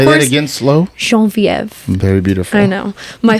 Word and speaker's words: Geneviève: So Genevieve is the actual pronunciation of my name. And that's always been very important to me. And Say of course, that again slow. Genevieve.